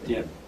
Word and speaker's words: Etienne: Mispronounce it? Etienne? Yes. E-T-G-E-N. Etienne.